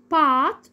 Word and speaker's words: bought: اول حاله لو جت معايا في نص الكلام بتكون silent letter ما بنطقهاش، زي كلمه right، night، 8. bought اللي هي معناها اشترى، الماضي من كلمه buy.